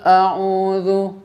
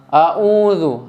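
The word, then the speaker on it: أعوذ: Kalau hamzah pangkal tenggorokan, kalau ain tengah tenggorokan. A'udzu. Banyak orang membacanya hamzah semua. A'udzu. Nah, ini tidak boleh.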